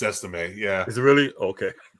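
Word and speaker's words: Estimé: That's how you pronounce it? It's Estime, yeah.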